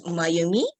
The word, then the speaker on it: Mayumi: And my name is Mayumi. It's very easy to pronounce. It's like in English, you, me.